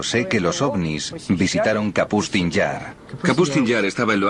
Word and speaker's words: Kapustin Yar: Yo he dicho siempre Kasputin Yar, pero es Kapustin Yar.